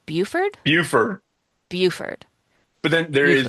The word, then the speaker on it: Beaufort: It's spelled Beauford, and I feel like Buford.